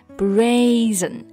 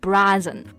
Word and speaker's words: brazen: 那这个表达 brazen 也是可以指厚颜无耻的。这里就要注意啊，它的发音是 brazen，不是按照拼写读成了 brazen。